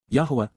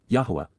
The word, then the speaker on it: Yahuwah: Yahuwah, Yahuwah, the proper pronunciation of the name of Eloah, God as